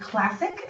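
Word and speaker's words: Klassik: you see it and it is called classic spelled with a k - haze actually it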